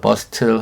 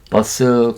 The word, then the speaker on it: bustle: T가 보통은 묵음입니다. 들리지 않아요. 그래서 bustle 하지 않고요. bus 그렇습니다.